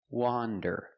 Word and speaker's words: wander: Wander is pronounced with the short O sound, the sound ah, like you hear in hot and stop. Wan, wander. It's an open sound. Ah, wa, wander.